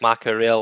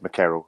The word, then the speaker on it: McCarroll: to make sure that it's not like macho real or whatever like that because i'm really hopeless at pronouncing names so how you just said it is exactly how it's meant to be said mccarroll so oh is it